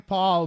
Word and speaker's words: Pol: with that name well say I'm Paul but it's spelled pol and I normally have to spell that out cuz otherwise people will think PA yo L so I totally get